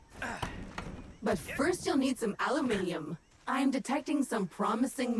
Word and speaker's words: aluminium: Aluminium or aluminum as Americans pronounce it incorrectly.